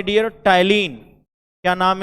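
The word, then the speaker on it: ptyalin: एक नाम है डियर टैलिन। क्या नाम है, टैलिन। देखो पढ़ते हम लोग टैलिन है, पी साइलेंट हो जाता है, एक्सेंट जैसे साइकोलॉजी में, जैसे निमोनिया में पी लिखते हैं ना, वैसे टैलिन।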